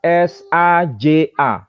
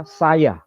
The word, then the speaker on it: saja: Kemudian tulisan S-A-J-A. Kalau ejaan Van Ophuijsen itu tidak dibaca saja, tapi dibaca saya.